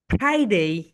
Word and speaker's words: Friday: এসেই, এসেই, ফ্রাইডে, ফা ফা ফা ফা, আপার টিট লোয়ার লিপের সঙ্গে টাচ করো। ফ্রাইডে, ফ্রাইডে, ফ্রাইডে। তোমরা যদি উপরের দাঁত নিচের ঠোঁটের সঙ্গে টাচ না করো তাহলে কিন্তু রাইট প্রোনাউন্সিয়েশন আসবে না।